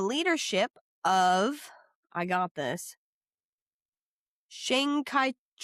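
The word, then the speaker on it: Chiang Kai-shek: Shang Kaiek. Shing Kai rhymes with long tai is what I have written here.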